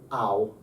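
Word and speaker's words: αυ: When alpha and upsilon come together, this is just an ow. Ow. That Like hurts. German. Like German. Ow.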